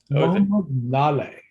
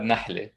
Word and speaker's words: Nahleh: to architecture talk nalay yes and how do you say your last name i mean it's nali but i i appreciate it and recognize the americanized version of it like yes that's